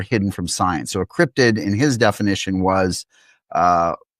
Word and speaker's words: cryptid: Some people say cryptoid or cryptozoid and I hear different iterations but yes it is crypted.